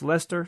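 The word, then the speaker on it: Leicester: name is Simon from Lee Chester pronounced Lester sorry okayer I think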